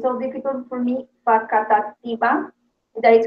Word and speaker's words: Facatativá: So, Adriana, let me pronounce because it's so difficult for me. Facatativa.